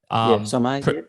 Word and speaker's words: Sommet: Sommet. Yep, Sommet. There you go. There's my. That sounds French. I probably butchered it. If you take the French pronunciation, yep.